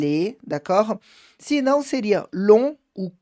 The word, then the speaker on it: long: Se não, seria long ou court, tá? Então, long, somente sem o final, sem a pronúncia do G, e court, sem o final da pronúncia do T, d'accord?